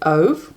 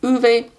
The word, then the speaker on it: Ove: do a man called ove I think you actually pronounce it a man called uve by Friedrich Bachmann we